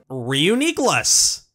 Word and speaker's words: Reuniclus: We've also got Reuniqueless. Yeah, that's the official pronunciation, apparently. Reuniqueless, let's go! This is one I wouldn't be able to intuit in a million years. Most fans prefer saying Reuniqueless, which is also the way I say this Pokemon's name. The way the syllables are stressed makes more sense to me this way. Plus, that pronunciation sounds closer to words like Nucleus and Homunculus.